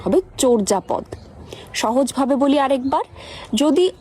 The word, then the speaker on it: চর্যাপদ: আর যদি অন্তস্থ জ থাকে তাহলে ও এর মত উচ্চারণ হবে। যেমন চরজাপদ, মর্যাদা, পর্যায়।